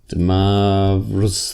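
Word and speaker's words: de Moivre: Demoivre's theorem. He was French. I am not. So I say it like an Australian, Demoivre.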